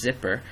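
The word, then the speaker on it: zypper: a system update using I believe the pronunciation is zipper um you can use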